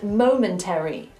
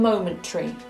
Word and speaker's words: momentary: In RP, we do not say ordinary, military, and momentary. We say ordinary, military, and momentary. The ARY becomes a simple RE.